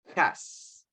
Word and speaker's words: has: Okay, as you can see, we are using the letter H, but they sound like a letter J. So, hello, have, has, hair. Okay, remember to mention or to pronounce the letter H as if it is a letter J in Spanish.